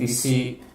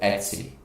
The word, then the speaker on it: etc: By the way, the directory etc, mostly it's pronounced at etsy, etsy, etsy, etsy, the pronunciation. Some people say etc, I sometimes accidentally say etc. Etsy is better. Etsy is most widely used.